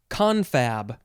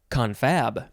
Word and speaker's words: confab: It is confab or confab. Emphasis on either syllable is fine.